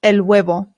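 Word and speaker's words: huevo: The H in Spanish remember is always silent. Always. Always. Always. I always hear Americans say and that is not correct. It is elo.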